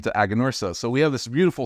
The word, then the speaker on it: Aganorsa: So some people ask us, oh, how do you spell it? How do you say it? Aganorsa, Aganorsa. There's many different ways, but it's Aganorsa is a lot easier than Agricola Granadera Norca S.A., right?